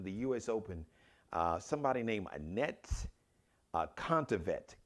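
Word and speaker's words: Anett Kontaveit: I believe it's Contavet. Well, I didn't get the phonetic pronunciation, so that's what it looks like. Annette. It's like a net without the E at the end, and then Contavet.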